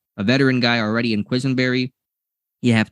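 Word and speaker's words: Quessenberry: Quisenberry, yeah.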